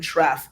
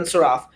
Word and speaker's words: Saraf: I'm okay with Ben Shraf. Saraf. Yeah, Saraf. Ben Saraf.